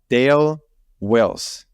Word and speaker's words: Dale Wills: And today with me, and again, if I don't pronounce it as I should, please let me know. Dale Wills.